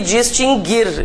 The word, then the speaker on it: distinguir: Esses dois verbos nunca tiveram trema porque o U nunca foi pronunciado. Mas há muitas pessoas que pronunciam o U, né? Então, extinguir e distinguir, e inclusive todas as suas conjugações.